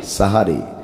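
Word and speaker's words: সাহরি: 2 নম্বরে হলো সাহারি খাওয়া। বলেন কি খাওয়া? সবাই বলেন কি খাওয়া? ওটা সেহেরি নয়, ওটা কি? সাহারি। সেহের মানে হলো জাদু। সেহের মানে কি? এজন্য শুদ্ধ উচ্চারণ হলো সাহারি, শুদ্ধ উচ্চারণ কি?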